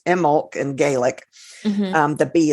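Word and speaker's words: Imbolc: out that's actually as I said last week pronounced emulk and Gaelic um the bee is silent but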